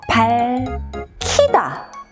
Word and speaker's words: 밝히다: 올라 붙으면서 흙으로 바뀝니다 예를 들면 밝히다 밝히다 하면 히읗과 앞쪽의 기억에 만나서 발키다 이렇게 발음이 되는 경우입니다 먹히다도 마찬가지예요 뒤쪽에 히읗이